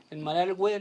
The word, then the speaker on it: Malargüe: Federico, sí, estamos en Malargüe, le decimos nosotros, que es como se pronuncia en lengua mapuche más tradicional, que es el lugar de los castillos de piedra.